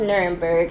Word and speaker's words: Nuremberg: It's actually pronounced Nuremberg, and please forgive me if I'm looking down at my my collective notes right here.